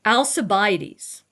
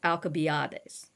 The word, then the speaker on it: Alcibiades: So Alcibiades is Alcibiades. Okay? That C in the Latin is really a K. Okay? But we pronounce it now like an S.